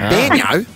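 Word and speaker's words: baño: That's actually how you say toilet in Spanish. So it's very weird. What, Banyo? Banyo, yes. Is toilet in Spanish. Are you serious? Really? Yes. It's spelled different, but that's how you pronounce it, yes.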